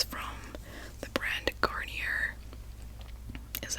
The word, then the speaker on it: Garnier: it's actually really nice it's from the brand garnier is how you pronounce it sleek and shine i don't know